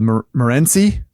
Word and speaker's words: Morenci: And I don't know if I'm pronouncing this right, but there's a town in Arizona called Morenci.